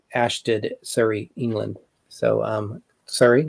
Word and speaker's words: Surrey: sh t --d and that's not how you pronounce it it's a sh did Surrey England so sorry like in Harry Potter but it's sorry England is one of the the places that we